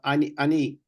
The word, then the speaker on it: ani: I've often pronounced it ani. Is that correct? Sounds like I'm Sorry? doing it wrong. The word, sir? Yeah, with the I, it's talking about ani. So you mean about I? So I. Correct. I. As in me. Ani. With an olive. Yeah, and the definition of that would be to describe myself. Yes, sir. Me. Okay, so I'm pronouncing it right by saying ani. Yes, sir.